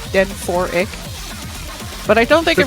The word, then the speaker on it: Denchik: Yeah, not seeing as much of Denchik as we saw last week. At least I think that's how you pronounce his name, like Den 4Ik.